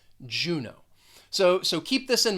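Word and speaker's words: Juneau: with a long o juno so so keep this in mind when you see a word that ends with that e a u you're going to pronounce it with a long o juno next is seattle and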